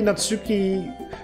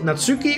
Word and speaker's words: Natsuki: is it natsuki or is it natsuki i mean because apparently they're they're mods you can pronounce it both ways by putting the emphasis on the beginning of the word or in the middle or i guess you could also technically put it at the end natsuki but i guess